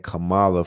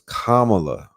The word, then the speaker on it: Kamala: Kama you know Kamala and I've been saying Kamala for the whole time why did nobody over